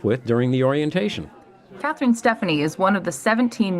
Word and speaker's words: Stefani: my name is Katherine Stephanie and that is the true pronunciation A lot of people think it's Stefani but Steph in Italian